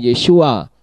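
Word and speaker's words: ישועה: Ayin he Namun demikian membacanya tetap sama yaitu yesua dan huruf h-nya tidak terdengar sekarang bagaimana dengan kata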